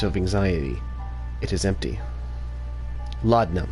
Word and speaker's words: laudanum: Laudanum, that's how you say it.